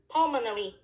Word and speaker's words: pulmonary: pulmonary is the adjective the stress is full on the syllab first syllable pulmonary okay that's mean connected